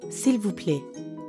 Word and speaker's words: s'il vous plaît: But when speakers are in a hurry, that L sound at the end often gets left off.